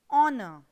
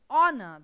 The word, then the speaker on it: honor: choosing a or an the first letter of the word honor for example is a consonant but it is unpronounced in spite of its spelling the word honor begins with a vowel